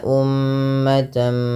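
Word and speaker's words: أُمَّةً: Kemudian ummatan muslimah. Lafal umma di sini mimnya berharokat tasydid dan berwarna hijau. Artinya ia bacaan gunnah dan perlu ditahan dalam pelafalannya.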